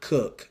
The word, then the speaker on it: Coke: Whenever you want to start studying the common law, you can start with these books by a guy named Edward Cook. It's spelled Coke.